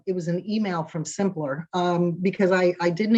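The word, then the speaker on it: Symplur: it was a it was an email from simpler um because i i didn't include them in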